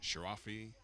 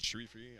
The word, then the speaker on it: Sharifi: name correct here as someone in the audience told me how to actually pronounce it as I've heard uh quite a few different pronunciations uh in the past sharafi sherii that sherifi I believe is uh the correct pronunciation so forgive me for